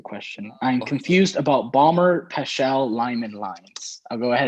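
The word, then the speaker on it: Paschen: I was like, isn't it Pashan? Yeah. Pashan, yeah.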